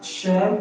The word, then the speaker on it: chef: C, we have chef. The CH in chef is pronounced sh. And D, we have posture.